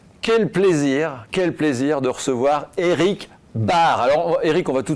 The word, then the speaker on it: Baert: quel plaisir de recevoir Eric Bard. Alors Eric, on va tout de suite, mettre les choses à plat. On dit bien Eric Bard. Ça s'écrit B-A-E-R-T, mais on dit Bard.